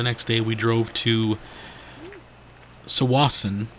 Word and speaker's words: Tsawwassen: We drove to Tsawwassen, I believe is how it's pronounced. It starts with a T, for the ferry.